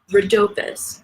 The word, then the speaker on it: Rhodopis: Rhodopis, R-H-O-D-O-P-I-S.